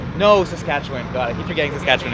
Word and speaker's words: Saskatchewan: Another province whose pronunciation I've learned since filming this video. Saskatchewan.